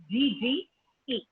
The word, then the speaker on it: hygge: Hygge is Hygge. Now, it's pronounced just Hygge, even though the spelling and the pronunciation doesn't match.